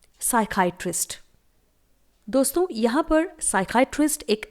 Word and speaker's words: psychiatrist: और दिमाग के डॉक्टर को मेडिकल लैंग्वेज में इंग्लिश में बोला जाता है साइकाइट्रिस्ट। स्पेलिंग देखिए, PSYCHIATRIST। साइकाइट्रिस्ट की स्पेलिंग में P हमेशा साइलेंट होता है।